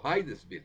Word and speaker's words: Hydesville: Okay, ahí está el lugar, Hydesville o Hydesville, se pronuncia Hydesville con Y, cerca de Nueva York, cuando ambas hermanas avisaron de extraños ruidos en su habitación.